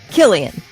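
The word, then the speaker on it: Cillian: Okay C i l l i a n Killian let's find out Killian only cuz Killian murphyan you know I said his name wrong forever it was up until the Batman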